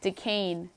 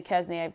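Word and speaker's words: Duquesne: in conference play and I meant decane not the kaznia mispronounce that one but the pick anyways Richmond 11 seen George Washington again 6 seed st.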